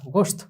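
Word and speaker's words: گوشت: তো সেটার উচ্চারণটা কিরকম হবে, গাফ ওয়াও পেশ গো শিন তা গোশত।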